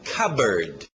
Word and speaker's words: cupboard: Alright, continuando, a pronúncia é fácil nesse aqui, o som de K, e lembra pássaro, era bird, então cupboard, cupboard.